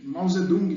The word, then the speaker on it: Mao Zedong: E Mao Zedong, né? A pronúncia correta.